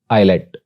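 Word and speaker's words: islet: एस के बारे में रूल्स ये हैं कि एस इज not pronounced before L, यानी एस को एल से पहले प्रोनाउंस नहीं किया जाता, लाइक आइलैंड, आयल और आइलेट।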